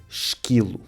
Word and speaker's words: esquilo: Em português esta combinação lê-se quase sempre qui e não qui. Portanto, esquilo.